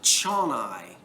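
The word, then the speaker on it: Zsolnay: to pronounce it and the google translate lady pronounces it chon-i so i'm going just just to use my new jersey accent and say it's changi hungary our chennai factory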